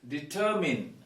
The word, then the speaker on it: determine: what we do is we stress the second syllable so it is determine determine it is not mine when pronouncing it